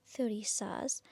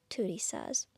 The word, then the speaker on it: Thurisaz: It kind of changes its pronunciation depending on where you are in the world. Some pronounce it as Thurisaz because of the th and some of us pronounce it as Turisaz. So, it's a tuh not a thuh, but it can be really any way. Depends on whether or not you're sort of Western or Scandinavian.